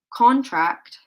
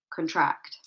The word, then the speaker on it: contract: or the second one contract. Which one? In which example did I place the stress on the first syllable? Yes, number one. Okay, so I placed the stress here. Contract rather than contract.